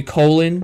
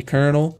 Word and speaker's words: Colonal: name people call me colin people call me colinal people call me colonel which is how it's supposed to pronounce even though it's not spelled that way uh it it's great